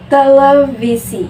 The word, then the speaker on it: televisi: juga dengan contoh kata televisi walaupun dalam penulisannya huruf v tetapi tetap kita melafalkannya seperti membaca huruf FC televisi selanjutnya pelafalan huruf f